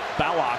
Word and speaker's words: Ballock: He gave me a little lesson in how to pronounce their name this morning. That was the big midseason controversy. Ballock.